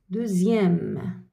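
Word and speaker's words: deuxième: زد كيما هنايا كيما دوزيام. ها إكس بصح ما قريناهاش إكس، واش نطقناها؟ قريناها زد. زد دوزيام دوزيام دوزيام يعني قريناها زاد.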